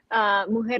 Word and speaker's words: Mujer: pronouncing that correctly? Mujer Latina.